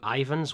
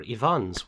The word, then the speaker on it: Ivonne: Uh and then from there made your way to Ivan's workshop or Ivonne's workshop as it's properly pronounced.